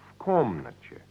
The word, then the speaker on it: в комнате: В комнате. Yes, said slowly, в комнате. Pronounce в комнате. В комнате. The last syllable is che.